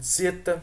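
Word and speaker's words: zeta: e delta o épsilon Roseta que também pode ser pronunciado como ceta ó e aqui vai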